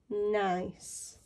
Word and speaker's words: nice: Now this is tricky because you may think this sound is k, but in this word it is pronounced s. So this word is nice.